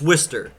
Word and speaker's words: Worcester: that it's spelled Worchester I get that it's spelled that but it's Worster I get it [